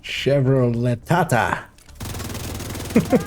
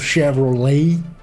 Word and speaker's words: Chevrolet: to pulse here yeah chevro Lata that's how we pronounce it in our country shut up need American pronunciation of Chevrolet yeah Chevrolet what's the